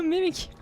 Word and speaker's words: Mimikyu: How do you pronounce a Mimikchu? A Mimikyu.